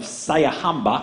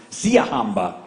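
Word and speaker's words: Siyahamba: Their next song, making its spring ring debut, is a quartet arrangement of Sayahamba. I have no idea if I'm pronouncing that correctly. Siahamba, thank you.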